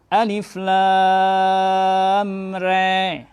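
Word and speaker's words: الر: Imalah sughra ini membacanya agak lebih ke atas sedikit. Nah, kalau kita ingin mencoba, maka sebagaimana bunyi suara kambing yang mengembek. Bunyinya be gitu. Be gitu. Maka di situ membacanya dengan alif lam re. Alif lam re. Ingat bunyi kambing.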